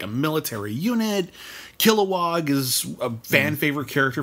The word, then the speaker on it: Kilowog: I love the character Kilowog. He's really fun. Is it Kil-O-Wog? Because they call him Kil-O-Wog and also just Kilowog. I think they just kind of swallowed that middle syllable. It's Kilowog. Kilowog.